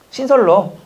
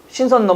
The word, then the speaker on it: 신선로: 맛있는 음식이 신선노 신선의 노니까 뭐가? 신설로입니까? 신선노입니까? 신설로. 신선노 뭐가 맞는 거예요? 설로.